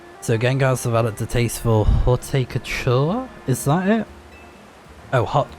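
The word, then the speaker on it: haute couture: Hot couture is how you say it. Halt couture, which is basically uh saying high fashion, I guess, or um like highly elegant.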